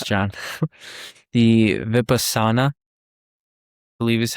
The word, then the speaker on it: Vipassana: Then there is the dude, these are hard to pronounce, John. The Vipassana, I believe is how you pronounce it.